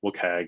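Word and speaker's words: WCAG: like um the uh look hag is how they pronounce the the working group for accessibility it just sounds terrible but anyway the guideline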